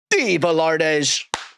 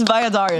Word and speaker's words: Valladares: So, let's give a warm welcome to the one, the only, Dalardes. First of all, you said my last name wrong. That's what I said. It's Viadar.